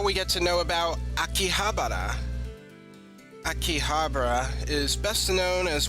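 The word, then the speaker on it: 秋葉原: manga nerd, then be sure to stop by Akihabara.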